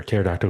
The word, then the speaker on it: pterodactyl: Why can't you hear pterodactyl going to the bathroom? Oh, come on. Do you really want to go with that one? The P is silent.